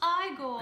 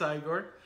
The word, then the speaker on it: Igor: It's pronounced Igor. It's not Igor, it's Igor.